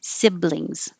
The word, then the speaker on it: siblings: z but i was exaggerating that it looks like an s but it sounds like a z siblings suburb which has different